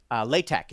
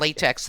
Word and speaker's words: LaTeX: It's not LaTeX. If you're using LaTeX, you can't. That's L-A and then capital T-E-X, right? Yes, not latex like the gloves.